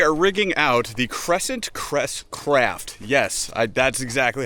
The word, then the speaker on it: CresCraft: Today we are rigging out the Crescent Crest Craft.